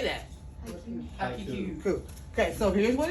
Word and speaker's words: haiku: Haiku. Cool. Okay, so here's what it is. It's a three line. Do you know what country origin haiku's from?